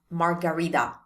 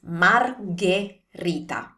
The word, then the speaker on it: margherita: not a drink, so it's never margarita. It's margherita. So remember, the H makes the sound hard, G, like we saw with bruschetta, G. In this case, it's a G sound, hard sound. Margherita. And also the ending T, that's the most crucial part for this word. The ending T is a T sound. It's never a D sound. Don't turn this into a D. It's not margarita. It's margherita. Margherita.